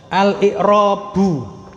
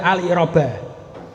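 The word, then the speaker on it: الإعرابُ: Kenapa bacanya kok al-i'rabu? Kok ndak al-i'raba? Kok ndak al-i'rabi? Nah, itu ada kaidahnya. Karena dia di awal kalimat, namanya mubtada. Kata yang di awal kalimat namanya mubtada. Kalau dia isim ya, isim yang di awal kalimat namanya mubtada, maka dia pasti rofa. Rofanya diantaranya dengan dhammah. Makanya bacanya al-i'rabu.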